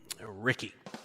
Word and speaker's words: Ricky: Ricky. Rhymes with Dickie.